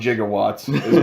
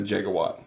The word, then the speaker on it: gigawatt: science doesn't make sense the doc says 1.21 jigowatts what it's gonna there's no such thing as a gigawatts gigawatts a mispronunciation oh yeah it should be a gigawatt so like doc doesn't